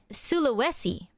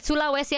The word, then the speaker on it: Sulawesi: uh we went to this place called uh Suluesi I think they they didn't even pronounce it as Sulawai.